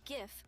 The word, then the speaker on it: GIF: set the record straight I say GIF with a hard G because what does peanut butter have to do with looping images if you want to